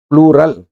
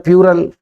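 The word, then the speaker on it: plural: प्लूरल, यह नहीं बोलते हैं इसमें, प्लूरल नहीं, ये इसका उच्चारण है प्लूरल, इसमें यह नहीं आता, आधा पे आता प्लूरल। हम बोलते प्लूरल, कोई बोलता है प्यूरल, यह नहीं आता, प्लूरल।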